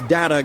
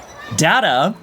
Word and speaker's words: Data: Data? Dr. Pulaski, my name is Data. Yeah, that's what I said. Data. No, you misunderstand. It is pronounced data. You, however, are pronouncing it like data.